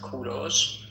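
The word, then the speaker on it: کوروش: English people call him Cyrus. But in Persian we call him Kuros. In Persian it is pronounced Kuros, but in English you call them call him Cyrus.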